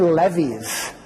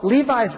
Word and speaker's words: Levi's: and asked me dad what are Levy's she mispronounced the name because she'd never heard of them before well Levi's brought me back a